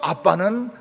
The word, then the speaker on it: 아빠: 히브리어 아빠는 우리 아빠와 똑같습니다. 히브리 아이들이 아빠를 부를 때 뭐라고 부릅니까? 아빠라고 부릅니다. 우리하고 똑같아요. 아빠 이렇게 부릅니다.